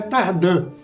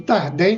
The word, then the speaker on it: Tardin: grafia normal né e como é de origem franco-suíço a pronúncia correta é tardan essa é a pronúncia correta e agora eu fui criado e desde criança eu ouço tardé tardé tardé eh depois